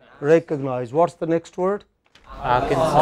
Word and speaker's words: Arkansas: Arkansas. Arkansas. You know, does he pronounce this last sound? No, he doesn't.